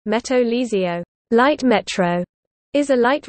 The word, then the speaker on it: Metro Ligero: The Metro Ligero, Spanish pronunciation, Meto Ligio, light metro, is a light rail system in Madrid, Spain.